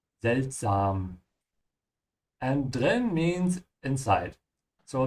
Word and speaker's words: seltsam: Yeah, don't say seltsame or something like that, because you can see same looks like English, but it's not. Yeah, it's sam. Seltsam.